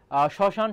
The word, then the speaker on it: শ্মশান: তারপর শ্মশান শব্দটির উচ্চারণ কি হবে? আমি একটু দ্রুত বেগে যাচ্ছি, আমাদের অনেক প্রশ্ন রয়েছে আর কি। তাহলে শ্মশানটা খেয়াল করে, এখানে এই যে মফলা শুরুতে রয়েছে তার উচ্চারণ হবে না, তাহলে স তারপর হবে